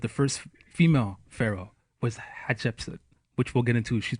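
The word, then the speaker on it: Hatshepsut: Hatsheput? Yes. Yes. Hat. Shep, as in shepherd. Okay. Sut, as in like dirt. As in shit. No? No. Sut. Sut? Yes. Okay.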